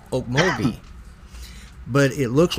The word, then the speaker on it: Okmulgee: This street, one of the main streets that drive east and west on, is called Okmulgee, but it looks like Okmulgee.